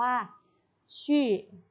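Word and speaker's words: 去: นะ คะ คำ นี้ จะ ออก เสียง ว่า ชื่อ นะ ฮะ ชื่อ ชื่อ แต่ ว่า ไป ค่ะ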